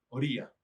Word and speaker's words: Oría: ¿Oria o Oria? ¿Cómo se pronuncia? Es Oría, Oria, pero Oria.